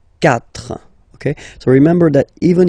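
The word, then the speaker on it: quatre: C but then the sound that you will pronounce is ka. Okay. Catra.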